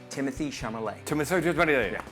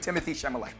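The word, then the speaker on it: Timothée Chalamet: It's pronounced Timothy Chalamet. The Duchess of Timothy Chalamet. Timothy Chalamet.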